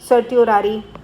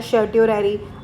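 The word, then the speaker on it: certiorari: सर्टियोरारी कोई बोलता है शर्टरी। मैं इसको सर्टरेरी बोलती हूं क्योंकि इससे मेरे को स्पेलिंग याद हो जाती है। ठीक है? आप जिस भी नाम से बोलते हो इट डजंट मैटर।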